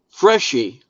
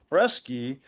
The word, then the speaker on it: Freschi: But I've got to take away some points because it's Freschi, and Ow! it's opposite of what Joe Pesci does, right?